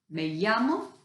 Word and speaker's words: me llamo: to say this so you start by saying may yama and then your name that's what it looks like me llamo and then your name